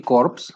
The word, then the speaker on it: corps: mi color te acuerdas que no se pronuncian estas dos últimas letras es ahora mi color porque porque si dices army corps acuérdate que corps es cadáver la pronunciación y para decir cadáver si es para escribir cadáver se escribiría corts por lo tanto se pronuncia corp por lo tanto este